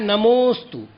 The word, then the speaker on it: नमोस्तु: तो जो अवग्रह चिन्ह हुआ है वहां पर अकार नहीं बोलना है, अवर्ण का उच्चारण नहीं करना है, अपितु उच्चारण करना है नमोस्तु, अर्थात मुंह पर थोड़ा सा जोर दिया जाएगा नमोस्तु।